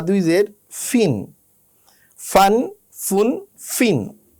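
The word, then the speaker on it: ف: ফা উচ্চারণ করার সময় উপরের দাঁত আর নিচের ঠোঁট লাগিয়ে ইংলিশ এফের মতো ফা উচ্চারণ করতে হয়। আমাদের ফা যাতে ফয়ের মতো না হয়, দুই ঠোঁট লাগিয়ে উচ্চারণ করতে হয় ফ, যেটা ইংলিশ ফি এর মতো। আমরা ফা বললে হবে না, আমাদের বলতে হবে ফা।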